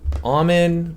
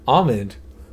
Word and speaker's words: almond: see the L right no the L is silent right is the L